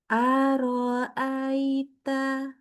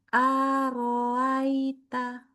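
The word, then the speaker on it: أرأيت: Baru kita buka pita suara harusnya yang benar. Aro aita. Aro aita. Nah, tapi dibaca gini ini salah. Arita roa arita itu salah. Harus bacanya. kayak mulai baru araita itu baru namanya syiddah.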